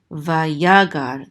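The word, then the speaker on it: ויגר: Vayagar, the accent is on the second syllable because of this trope mark right here, vayagar.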